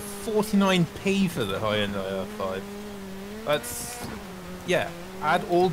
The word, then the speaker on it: Hyundai: Thank you for pronouncing Hyundai correctly. I mean, I hang around with Europeans enough now. Yeah. Americans be like, Hyundai.